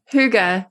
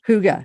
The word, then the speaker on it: hygge: the Hai the is that a Danish word Huga yes h y g g e Huga yes it's Huga I because I've always been